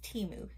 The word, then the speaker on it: Temu: we are going to be doing a little Teemu haul and yes I looked it up and it's pronounced timu thank you for all that also let me